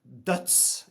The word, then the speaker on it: Døds: So it's first and foremost it's uh it's pronounced duts in Norwegian which means death which is like very very suiting for the Viking nation of Norway.